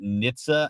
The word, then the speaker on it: NHTSA: do you say that we say we pronounce it Nitsa it's not acrm I